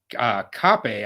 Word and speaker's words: Kape: D at least, versus Mano Kape, I believe. You pronounce the E with a little accent at the end.